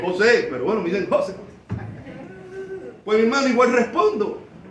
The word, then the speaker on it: José: Y algunos otros hermanos, nosotros pronunciamos mi nombre José. Hay otros hermanos, otras personas de otros países que cambian el acento y dicen José.